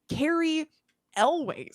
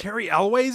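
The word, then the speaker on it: Cary Elwes: And then also horror friend Carrie Elways. How do you say it? I can never say it. Carrie Elways is in it?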